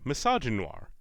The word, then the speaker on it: misogynoir: I'll educate you on that pronunciation in hopes that one day you can pronounce the name of your own channel properly. This is a portmanteau of misogyny and noir. Misogynoir. You're welcome.